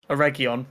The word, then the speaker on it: Eregion: Oh, I'm gonna fuck up the city's pronunciation. Oh, Aragon. Eregion.